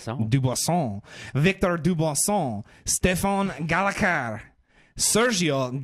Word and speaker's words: Dubuisson: Dubuisson.